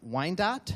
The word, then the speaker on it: Wyandotte: Mark, you became the prosecutor, and I'm not going to be able to pronounce Wyandotte? You got it right. Wyandotte County, Wyandotte in Kansas in January.